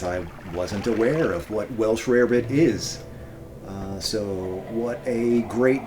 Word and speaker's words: Welsh rarebit: Welsh Rabbit, Welsh Rarebit. I've seen both pronunciations. Let's go with Rarebit because it sounds, yeah, maybe whatever.